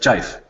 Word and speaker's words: GIF: JIF.